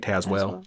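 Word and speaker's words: Tazewell: Well, Tazwell, I think they say it. It looks like Tazwell. Oh, Taz, but I think they pronounce it Tazwell.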